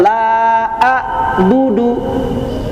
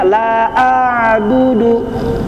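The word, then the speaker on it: لا أعبد: Jadi bagaimana membacanya a itu jadi tidak tertahan sama sekali. Tidak la a'budu ya. Tapi tidak juga mengalir suaranya. La a'budu. Nah, tidak mengalir ainnya ya. Tapi ada di tengah-tengah. La a'budu tengah-tengah dia mengalir tidak tertahan tidak gitu.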